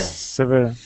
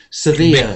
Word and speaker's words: severe: Severe. Strong. Severe. Not sever. If you sever something, you cut it off. Sever my artery. Sever my wrist. Cut Difficult. something. Severe.